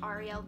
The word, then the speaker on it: Arielle: My name is Arielle, or with an American accent, it's pronounced Arielle.